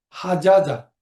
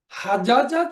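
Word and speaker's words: حَجَّ: এখানে একটা বিষয় হচ্ছে যে যখন এর কনজুগেশন হয়, যেমন মূলত এগুলো শব্দটা ছিল হাজাজা। হাজাজা যখন আমরা উচ্চারণ করি তখন হাজাজা বলি না, আমরা বলি হাজ্জা।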